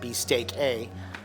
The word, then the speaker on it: BE.STEAK.A: so with this restaurant it's pronounced well you see it B steak a and but it was supposed to be or Meant To Be An American play on an Italian word so an American spelling of the Italian word